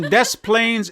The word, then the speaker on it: Des Plaines: If there's someone from Des Plaines, Illinois, listening, I said it right this time.